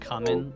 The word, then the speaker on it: cumin: There's a place in Queens that does this cumin lamb sandwich thing. It's pronounced common, Robert.